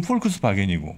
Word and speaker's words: Volkswagen: 그러면 적어도 영어식으로 읽자면 Volkswagen 뭐 이렇게 되겠죠? 예. 독일식으로 읽으면 폴크스바겐이고.